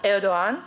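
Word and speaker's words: Erdoğan: But Erdogan, and this is how you have to pronounce it, made an important statement that the Turkish people are not against Jews.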